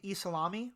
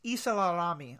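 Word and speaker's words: ysalamiri: I keep wanting to call them the Isalami, which is not true, but it's Isalarami, I think is the correct pronunciation.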